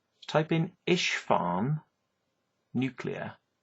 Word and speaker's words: Isfahan: It's Isfahan, which is spelled ISFAHAN.